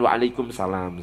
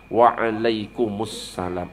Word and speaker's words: Waalaikumussalam: Itu bahasa Arab itu bukan waalaikumsalam. Salah bacanya. Waalaikumussalam.